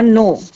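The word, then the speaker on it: know: और टू, नो और नो, के साइलेंट रहता है इसमें बच्चों, नो, हेयर और हेयर, एक और हेयर होता है खरगोश जंगली हेयर।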